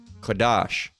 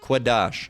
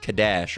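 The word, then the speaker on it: קדש: types of crazy all right but it is pronounced biblically kadash all right qadash all right not Kadesh or however they say or kadash it is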